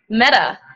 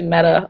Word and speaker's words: Meta: I've been listening to Meta a lot. Oh, yeah? How do you spell it? M-E-T-A? M-E-T-A, yeah. Okay. Like metaphor or metaphysics.